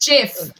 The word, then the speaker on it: gif: I think it's pronounced Jif.